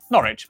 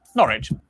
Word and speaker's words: Norwich: Norwich, Berwick, Southwark. Wow, that was fast. Leicester, Worcester, Gloucester. W at the start of the final syllable is silent. Norwich. Norwich.